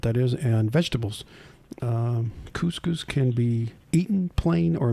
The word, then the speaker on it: couscous: can pull out of your brain there Mike c-o-u-s-c-o-u-s it's a middle eastern staple yeah it's uh this is pronounced couscous uh National Day national day yeah